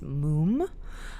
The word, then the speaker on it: múm: It was intended by the artist to be more of a sound. So, I do think it's moom.